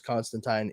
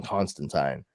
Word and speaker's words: Constantine: well let me rephrase John Constantine hellblazer because Constantine is actually how the name is supposed to be pronounced I did not learn that until recently